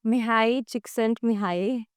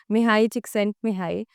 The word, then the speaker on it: Mihaly Csikszentmihalyi: It's Flow by Mihai Csikszentmihalyi. Yes, I'm pronouncing that correct because I looked it up. Mihai Csikszentmihalyi.